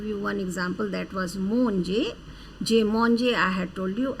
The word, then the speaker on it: manger: In fact, like verb we pronounce manger, ER group is always pronounced as A sound.